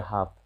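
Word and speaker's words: half: फिर कुड और हाफ, इनके बाद रहे तो नहीं, उच्चारण नहीं होता है।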